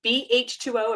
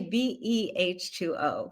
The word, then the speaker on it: BEH2O: So I know that you are certified in the, is it BH2O? Am I saying it correctly? Actually, BEH2O. We pronounce BH2O. I'm every. looking at it as B, the word. So BEH2O. So can you tell us